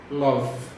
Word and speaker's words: love: Então a gente fala I like e a gente também fala o I love sem falar o é do final. Então fica um love.